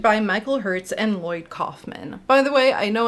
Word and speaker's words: Kaufman: Michael Herz and Lloyd Kaufman. By the way, I know in the past I have pronounced it Calfman. I understand now he pronounces it Kaufman. My instinct to say Calfman is because I study German.